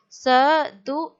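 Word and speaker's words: सधुक्कड़ी: See children, again one ka is halfly joined and one ka is written as fully. So one ka we will pronounce as halfly and next we will pronounce. Sadu-ik-kadi.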